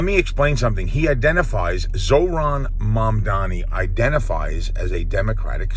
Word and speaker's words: Zohran: Actually, I've been mispronouncing his name incorrectly, so I think that's always disrespectful, so I'm not one of those people. His name is Zohran. I was saying Zohran.